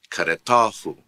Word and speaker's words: caretahu: to the last syllable, which means when you use a possessive pronoun, you extend the syllables. You add another syllable to the word, so therefore the stress will change. For example, careta, caretahu, careta, caretahu. Note careta, caretahu. Note the change in the stress when you add the possessive pronoun to it.